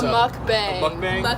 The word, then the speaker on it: mukbang: food friendly and we are here doing a mukbang that's how you say it so what a